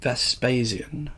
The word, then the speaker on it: Vespasian: in June 79 ad with the death of Vespasian am i pronouncing that correctly yeah perfect and the accession